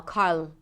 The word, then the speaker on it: Carl: Just make sure that you're giving the R enough time so it doesn't move automatically to the L. Carl, but Carl. Earl. If it's challenging, just practice this transition. R to L.